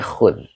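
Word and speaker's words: خذ: ini adalah fi'il Amar khud ituu dibacanya khud Oke terima kasih Amin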